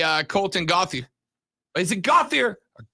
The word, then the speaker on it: Gauthier: colton gothy is it gothier or gauthier so where i come from g-a-u-t-h-i-e-r would be gauthier or gothay but i don't think y'all say it like we say i'd go with the